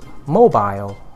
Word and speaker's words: mobile: make it more tight you would have to stress on the first syllable and the second vowel would be aisle from what I know